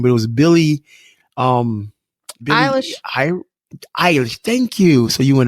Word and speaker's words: Eilish: We left the youngest in the house yesterday, and she had seen, I can't pronounce the chick's last name, but it was Billie Eilish. Eilish.